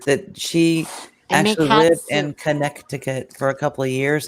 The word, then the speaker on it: Connecticut: winter I remember and my mother pronounced this Connecticut Connecticut she pronounces every letter in it it's crazy connec